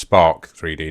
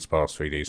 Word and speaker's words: Sparc3d: Okay, so I finally succumbed to putting faces through the it's actually pronounced Spark 3D, not Spar 3D.